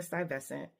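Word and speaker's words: Stuyvesant: a district called beer sty vescent and by the way sty vescent is spelled like Stewie vasant so in Beford St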